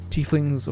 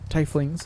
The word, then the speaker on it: tieflings: Ultra fancy humans similarly tieflings or tifflings however you want to pronounce it are people with fiendish